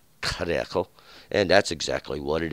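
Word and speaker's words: Hiddekel: The word is, in King James it says Hadekel, and that Hadekel should be pronounced Karekel, and that's exactly what it is. It is Karekel, and that means to be rapid or rushing, these rushing waters.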